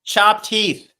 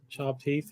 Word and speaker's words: Chopped Heath: Well, no, you mentioned him, but you mispronounced his name, so I couldn't find his channel. Oh. That's why I dropped links while you were here. It's Chopped Heath. Chopped Heath, yeah.